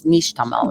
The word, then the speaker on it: nixtamal: be making your own i'm saying it wrong i know it's nishtamal right it's niche it should